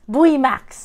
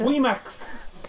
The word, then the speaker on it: VMAX: Buimax. Buimax. So in Korean, there's no V. They just pronounce it as Bui, like B-U-I.